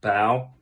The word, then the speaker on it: Bao: doctor but um no the name is actually pronounced bow as in the front of a boat so my name is bao and um yeah i